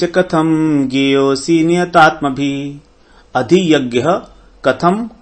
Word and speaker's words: ज्ञेयोऽसि: देहेस्मिन् मधुसूदन प्रयाण काले च कथम ज्ञेयोऽसि, ज्ञेयोऽसि नहीं कहेंगे। यहां पर अ अलग से नहीं बोलेंगे, वो साइलेंट है। ज्ञेयोऽसि नियतात्मभिः।